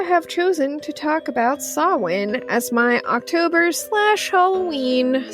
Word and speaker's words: Samhain: and si well and sawin i almost said it wrong thanks supernatural samhain i'm coming for you kripke you messed me up for years much of what